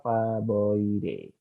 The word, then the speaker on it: Faboideae: A-nya nggak usah dibaca. Berarti ini Caesalpinioideae, Faboide.